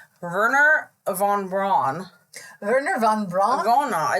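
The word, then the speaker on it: Wernher: name verer Von brw verer Von Bron ver it's actually starts with a w but the way that they pronounce it yeah so ver Von and he um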